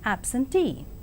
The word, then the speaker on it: absentee: And now the words stress, the words ending with suffix ee, eer and air are stressed on the the syllable itself, that is payee, addressee, employee, absentee. And engineer, volunteer, career, mountaineer, millionaire and questionnaire. And let us see accent in the compound words.